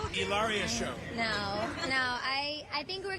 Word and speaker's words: Hilaria: Hilaria.